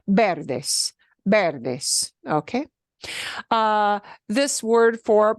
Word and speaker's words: verde: Verde, verde, and it won't be pronounced verde. It'll be verde, verde.